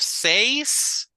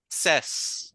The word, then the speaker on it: says: It's pronounced as says. Instead of says, it's says. Says, okay.